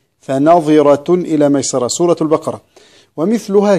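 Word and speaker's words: فنظرة: كلمة فناظرة، بعض الناس يقول فناظرة ويسكن الظاء والظاء مكسورة، فناظرة إلى ميسرة، سورة البقرة.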